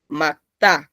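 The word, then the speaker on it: 맑다: Por ejemplo, aquí, la palabra en sí, sin la gramática, ven, macta, se lee la K, macta, pronuncien, macta.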